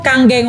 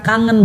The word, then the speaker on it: Kangen: Nah, Kangen ini bukan kangen bacanya Bapak sekalian. Ya, kebetulan nama saya pula, kayak nama sebuah band gitu kan. ya itu. Oke. Nah, bacanya Kangen, artinya back to origin